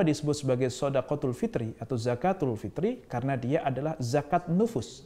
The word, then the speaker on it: zakatul fitr: Eh benar menurut beliau adalah pengucapan zakatul fitr bukan zakat fitrah zakat Fitri bukan zakat